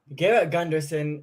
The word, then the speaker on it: Gunderson: is talking about just that Mr Garrett Gunderson Garrett Gunderson is is that how you spell your name pronounce it yeah you nailed it Garrett Gunderson